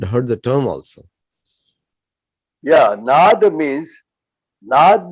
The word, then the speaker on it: नाद: Yeah, Nad means actually the right pronunciation.